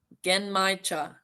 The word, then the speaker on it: genmaicha: I even Googled the pronunciation. It is genmaicha tea.